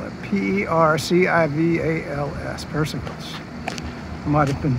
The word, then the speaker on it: Percival's: So that's how you spell it. P-E-R-C-I-V-A-L-S, Percival's.